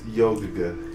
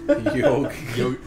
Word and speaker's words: Yawhg: Wait, are we sure it's pronounced Yawhg or is it Yawhg? It's Yawhg. Yawhg.